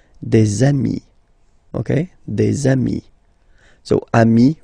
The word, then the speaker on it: amis: And if you make the liaison, so the link between the two, you will get des amis, okay?